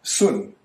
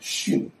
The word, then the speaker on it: 巽: Above is the old pronunciation sun. Now it is pronounced shin.